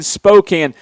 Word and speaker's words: Spokane: You mean Spokane. I'm sorry if I said it wrong.